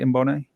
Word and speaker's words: Mboone: Did I pronounce that right, Mbone?